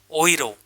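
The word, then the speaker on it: Euro: तो जर्मन में यूरो को कैसे बोलते हैं, प्रोनाउंसिएशन रूल के अकॉर्डिंग, ओइरो। जर्मन में यूरो को ओइरो बोलते हैं।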